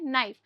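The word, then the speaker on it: knife: नाइफ। ध्यान रखना जो यहां पे के है वो साइलेंट है।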